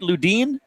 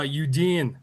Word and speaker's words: Ludin: Ludin? It's actually uh Youdin. Youdin. You don't say the L.